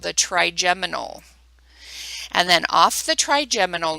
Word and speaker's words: trigeminal: Again, the only one we care about is the 5th cranial nerve, which is called the trigeminal.